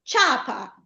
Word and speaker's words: ciapa: Con il ditongo, eh il ditongo vuole le due parole, le due vocali. C'è una vocale debole che è la i la vocale forte che è la a. Ciapa, le pronunciamo tutte e due insieme, nessun accento.